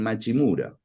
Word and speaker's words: Matsumura: En Okinawa, Matsumura y Matsumora se pronuncian Machimura, Mm.